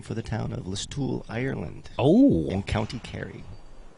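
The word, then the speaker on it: Listowel: and then they uh changed it to LOL which is actually spelled like list towel so there you go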